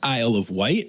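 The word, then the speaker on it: Isle of Wight: has been born at Amazon World on the aisle of white. And Elizabeth Charles, who sent me this story, thought I wouldn't know that it's pronounced Isle of White and thought I would say something stupid like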